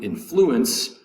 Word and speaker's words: influence: as a verb um influence the second syllable has the accent to influence someone you need to influence her versus to have influence a noun influence accent over the first um first syllable influence three syllables both